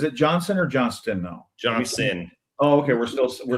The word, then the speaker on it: Johnston: Johnston.